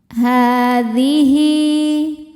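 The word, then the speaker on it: هَٰذِهِ: Hadhihi. Hi hukumnya mad silah qasirah karena ada hal dhamir diapit 2 huruf hidup dan setelahnya bukan hamzah. Cara bacanya dipanjangkan 2 harokat.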